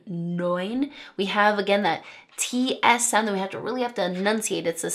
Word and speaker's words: neun: We have the 'eu' saying 'oy' in 'neun'.